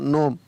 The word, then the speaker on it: gnome: GNOME, तो यहाँ पर जी नहीं पढ़ा जाएगा, NO नो, ME का म, नोम।